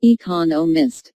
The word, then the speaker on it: economists: Smith is an economist notice the stress on economists this content word has new information so it is emphasized there are four syllables in economists with the stress on the second syllable economists he just finished writing just